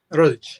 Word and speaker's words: Rodic: Is it pronounced Rodic or Rodic? Rodic. Yeah. Rodic.